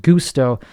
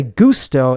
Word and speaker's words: gusto: But it's based on an Italian word, which is pronounced gusto. And people say gusto, and like it sounds weird. It's not really what I'm going for. I'm not like Timmy Gusto. I mean, whatever, it works, but it's pronounced gusto.